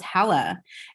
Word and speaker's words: Hala: But yeah, actually the way that my name is actually really, pronounced is Hala.